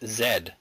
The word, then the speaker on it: zed: 12 you know that the last letter of the English alphabet is always pronounced Zed Zed yeah you do